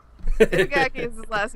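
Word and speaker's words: 板垣: Yeah, it's Itagaki. Itagaki is his last name, and I can say that, so there we go.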